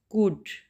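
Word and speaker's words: could: The next word is कुड। कुड, L steric letter जो है वो साइलेंट है, कुड, कुड, एल को हम प्रोनाउंस नहीं कर रहे, ठीक है।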